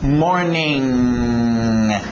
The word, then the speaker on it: morning: Esse G fica no nariz junto com o N.